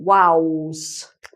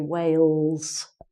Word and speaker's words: Wales: vows not Wales but Wow's which is like saying WOW with an S on the end Wow we went to wolves for our holiday but it's actually Wales so these are some